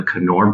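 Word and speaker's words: Knorr: Unilever I worked on the noir or the kannur brand as its pronounced in the rest of the world which is basically a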